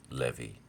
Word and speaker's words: Levi: Levi is actually how it would be pronounced, especially in the Greek, Levi, who took as a wife one of the daughters of Levi.